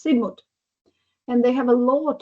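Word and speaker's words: Sidmouth: me it was like Sid most I read it like Sidmos but actually it's Sigmut and they have a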